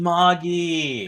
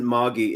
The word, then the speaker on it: Magi: Oh my god, Miy Magi. No, it wasn't. No, no, no. They pronounce it muggi. It's uh I've heard it as magi, but the Japanese have always pronounced it as muggi.